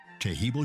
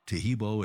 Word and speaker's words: Taheebo: disease due to infection diabetes or cancer tahibo tea club's original pure power Super T helps